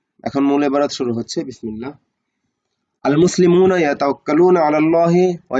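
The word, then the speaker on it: بسم الله: ওয়া ইয়াবদাউনা আমালাহুম বিসমিল্লাহ, এবং তারা শুরু করে তাদের কাজগুলো আল্লাহর নাম দ্বারা, বিসমিল্লাহ, মানে বিসমিল্লাহ দ্বারা বা আল্লাহর নাম দ্বারা। বিসমিল্লাহি, বিসমিল্লাহি, আলিফটা এখানে উচ্চারণ হবে না।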